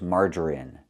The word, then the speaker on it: margarine: And the last word we know is margarine. It's pronounced with the short i sound in in this is in margarine.